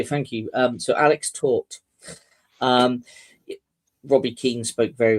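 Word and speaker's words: Tóth: Uh, you pronounce it taught as in Alex taught um Liverpool a football lesson.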